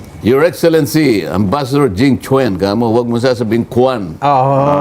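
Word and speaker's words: Jing Quan: Q u a n pero hindi kuan ang pronunciation oo ang pronunciation Chwen Chwen ah Jing Chen Chen Jing Chen ayun Jing Chen your excellency ambassador Jing Chwen mo huwag mong sasabihin kan Jing Chwen Oo baka magalit.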